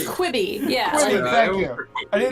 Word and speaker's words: Quibi: I never knew how to pronounce it. I think it's Quibi.